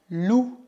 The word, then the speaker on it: loup: Cuidado para não pronunciar o P final. Un loup. Un loup. Caso contrário, a palavra virá loup, loup, que significa lupa.